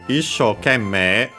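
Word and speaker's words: 一生懸命: Uh I got so issho kemme, the accent is on the first mora of the second word part of the compound.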